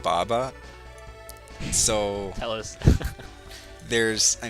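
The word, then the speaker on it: ヴァヴァ: Well, his name is actually Vava, but since there's no V sound in Japanese, it's pronounced Baba.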